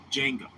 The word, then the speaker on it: Django: Bro, look up Django with a D. The D is silent. Django. DJ Ango.